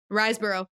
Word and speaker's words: Riseborough: Riseborough, yeah.